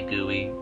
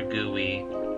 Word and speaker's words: GUI: in English I think we can just say gooey if for anybody that doesn't know their GUI or gooey as they pronounced around her face it's a term for